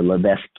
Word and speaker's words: Levesque: method by Ryan always mr. brown mispronounces name but it's a Levesque e le ve s qu e okay he's been around